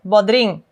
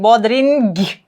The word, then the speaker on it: bodring: So this is digraph from our alphabet, and the G sound, g, is silent. For example, when we say cucumber, bodring, bodring, the G is silent. G, bodring. I'm not saying bodring. No, you can't hear it. Bodrin. It's actually just n.